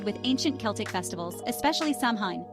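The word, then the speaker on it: Samhain: ancient Celtic festivals especially samine pronounced saen when folks believed Spirits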